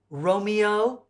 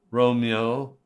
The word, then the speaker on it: Romeo: correct pronunciations are petruchio Romeo and Juliet count those syllables two syllables for Romeo two syllables for Juliet's